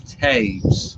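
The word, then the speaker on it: Toews: that pronounce say taves there's no way you could ever read that and get faiths out of it you'd have to know somebody had to tell you that it's tapes oh her dad tim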